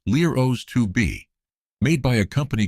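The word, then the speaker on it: LEROS: The main engine was a Britishbuilt unit called the Los 2B, pronounced Lero 2B, made by a company called NAMO at their facility in Westcot, England.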